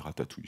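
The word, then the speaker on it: Ratatui: OK, ça s'écrit Ratatouilli. Moi je dis Ratatouille, c'est trop joli.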